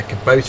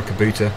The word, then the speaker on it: Kubota: It is a Kubota, or Kubota. Some people pronounce it differently. I've always called it Kubota personally, but Kubota B2100 from